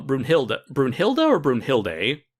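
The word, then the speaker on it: Brunhilde: pronounce your name and the anime's pronounced bruin hillary i kind of pronouncing bruin hilda right yeah uh i'm also i'm wondering if bruno hill does like the german pronunciation it sounds german yeah yeah but bruno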